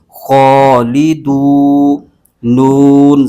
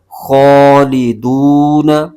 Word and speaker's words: خالدون: کھینچ کے پڑھیں گے۔ یہ واو مدہ ہے اور آگے نون وقف کی وجہ سے ساکن ہو رہا ہے، تو لہٰذا یہاں پر